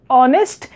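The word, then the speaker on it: honest: जैसे कि ऑनेस्ट, ये वर्ड स्टार्ट होता है एक कॉन्सोनेंट जो कि एच है, लेकिन इसका साउंड ऑनेस्ट, यहाँ पर एच साइलेंट होता है, इस वजह से इसे हम लोग ऑनेस्ट प्रोनाउंस करते हैं।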